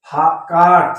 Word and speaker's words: caught: ध्यान दीजिएगा, ए के बाद यू अगर आता है, ए के बाद ज्यों ही यू शब्द आएगा तो आप वहां पर यू का प्रोनाउंसिएशन आ जोड़ करके पढ़ेंगे।